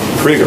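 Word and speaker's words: Krygier: get to the podium tell us the correct pronunciation of your name krieger all right so there's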